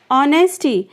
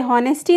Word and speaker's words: honesty: Honesty, guys यहाँ पे H silent है, इसे honesty नहीं कहते हैं, इसे कहते हैं honesty यानी ईमानदारी.